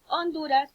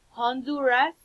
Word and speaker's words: Honduras: nativo, de habla inglesa, si usted le dice Honduras, posiblemente no entienda. So, we need to pronounce in the correct way. So, repeat after me. Honduras.